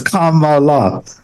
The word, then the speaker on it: Kamala: And they said you start off with a comma, and then you add Mala to it, so it's Kamala.